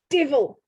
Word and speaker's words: devil: the Shropshire Word Book, it's devil, but pronounced divil.